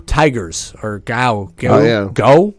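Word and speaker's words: Geaux: I I like LSU gow Tigers or gal yeah yeah go how did I don't know how you say it no it's go alright GAO spell differently I mean there's you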